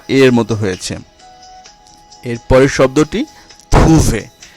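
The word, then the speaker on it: trouver: এরপরের শব্দটি থুভে। থুভে, এখানেও ওয়েখ আছে, এর উচ্চারণ এ, থুভে।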